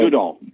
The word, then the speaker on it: Goodall: uh Godell or I can never remember that name. I don't even know how to pronounce it. God, what's her name? Chris Jane Goodall.